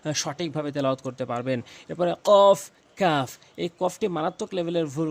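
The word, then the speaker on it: ك: দাগগুলো নিচের ঠোটের পেটে রাখবেন ফা ফা এরপরে কফ কফ কফ এই কফটি মারাত্মক লেভেলের ভুল করে থাকে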